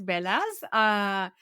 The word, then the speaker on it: Bellas: most people call me Bellas because that's the way they say it in Spanish. But my husband is actually Greek, and even though it's spelled with two L's, it's really pronounced with one L.